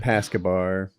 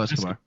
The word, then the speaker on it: Escobar: Who Pascabar. Right. Pablo Escobar.